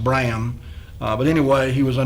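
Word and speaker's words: Brahan: mystery it looks like Braham is b-r-a-h-a-n uh probably pronounced Bram but anyway he was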